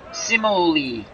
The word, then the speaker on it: Cimoli: I bet you they pronounce it Cimoli, but in Italian, the CI is Ch. So Gino Cimoli, or Cimoli, the American version.